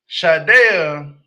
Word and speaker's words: Shaeeda: Now, Shaeeda, I want to say it's Shaeeda. That's how you pronounce it.